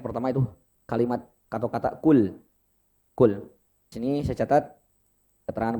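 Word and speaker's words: قُلْ: Jadi tidak ada pantulan e atau e. Kul, enggak ada kul, enggak ada, Pak. Jadi catatan pertama itu lam jangan sampai ada pantulan.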